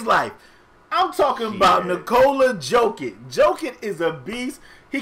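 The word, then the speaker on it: Jokić: Nikola Jokic. Respect that man, Spade. You respect him and say his name right. They said a J make a Y sound.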